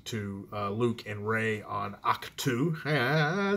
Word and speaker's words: Ahch-To: I did have my spoiler video about what happens to Luke and Rey on Ahch-To.